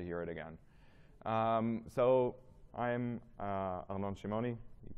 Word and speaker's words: Arnon Shimoni: So I'm Arnon Shimoni. You pronounce it correctly, which is respect.